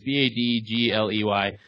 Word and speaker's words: Badgley: I don't know how to pronounce it. It's Badgley.